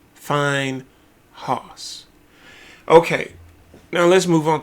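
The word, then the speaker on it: Phinehas: Finehos is the way you pronounce it. Not Fineyhos. Fineos.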